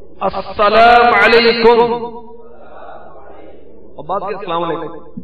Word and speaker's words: السلام علیکم: سلام اور جواب سلام کا درست تلفظ یاد فرما لیجیے. پہلے میں کہتا ہوں، آپ سن کر دہرائیے. السلام علیکم، السلام علیکم، اور بات یہ السلام علیکم.